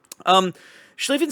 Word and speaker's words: Schlieffen: comments like, hey, dummy, it's a long I or a long E. You're doing it wrong, so sorry. But we got it right now. This is actually called Schlieffen, the same way that the IE in Zieten is pronounced the way it is.